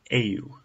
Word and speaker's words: eu: the translation for I is a you it's pronounced ay u EU a you for you it's pronounced bo